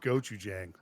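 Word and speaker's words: gochujang: is I had um Goan Goan go but that's not how it's spelled or SP g o CH c h u Chong g a n g go Jang goou goou Jang is what it's how it go yeah oh that's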